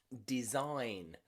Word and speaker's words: design: he's a foreigner okay the g in there is silent because it comes before the letter n so g and n the g is nearly always silent okay design resign and